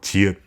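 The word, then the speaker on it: 지읒: Chiut has the sound of when you pronounce tigut, but after your tongue is released from the roof of your mouth, you add in a shio sound.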